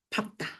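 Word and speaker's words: 밟다: 자, 그런데 이제 우리가 시험에서 맨날 친구들이 헷갈리는 자, 얘는 예외입니다. 얘는 리을, 비읍이지만 어떻게 읽어야 돼요? 얘는 밥다예요. 밥다.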